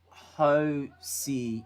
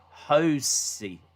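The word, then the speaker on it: José: t- bird uh da it's pronounced Hy not josy oh hosy not Josie oh potato potato tomato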